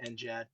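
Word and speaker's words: NGAD: the way it is we pronounce it with a soft G it's not next Generation air dominance it's six the Air Force will say and Gad for their kind of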